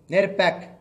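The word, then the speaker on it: NERPAP: निकाले हम एक प्रोग्राम निकाले जिसका नाम है नेर पैक उसकी स्पेलिंग बोलता हूं मैं आपको एन ई आर पी ए पी नेर पैक उसका फुल फॉर्म है नेशनल इलेक्ट्रोल रोल प्रोग्राम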